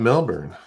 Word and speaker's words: Melbourne: And actually not Melbourne. Think of another and place. And you say, I think place. You pronounce it Melbourne. You don't Melbourne, do the Melbourne. Not the American.